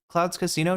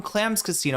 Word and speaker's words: Clams Casino: Clouds Casino type beat. Okay. Wait, am I saying it wrong? Clam's Casino. I don't know why I'm saying Cloud's Casino.